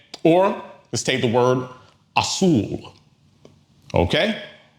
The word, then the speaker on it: azul: Or let's take the word assul. Okay? Ends in an L. So that's outside of our general rule. So stress falls on the last syllable or daughter.